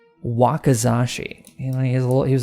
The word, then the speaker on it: wakizashi: how do you say that what's it called wakizashi he's a little he was a Japanese skeleton